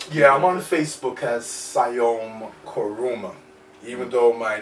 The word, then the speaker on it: Siayome: Yeah, but it's the same pronunciation, Siayome.